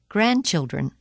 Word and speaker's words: grandchildren: but it's so dirty the letter D is silent in the following words read them as you repeat them during the pauses Wednesday grandfather grandmother grandchildren hankerchief practice in context